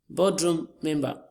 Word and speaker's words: boardroom member: Boardroom member. Boardroom member. Our stress is on the first word as well.